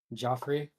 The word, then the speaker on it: Joffrey: So I turn my head back to, is it Jeffrey or Geoffrey, or how do you say it? Joffrey.